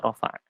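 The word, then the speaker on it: رفع: Untuk memudahkan orang Indonesia bacanya rafa'.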